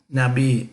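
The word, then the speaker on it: נביא: for prophet prophet isa now be now be this is not pronounced alif is not pronounced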